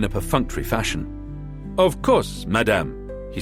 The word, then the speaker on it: madame: "Of course, madame," he said. He pronounced madame in the French way, flattering Mvinga's sense of herself as a big shot.